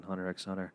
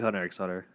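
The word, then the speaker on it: Hunter × Hunter: cool look they're like the x is silent I'm like it's right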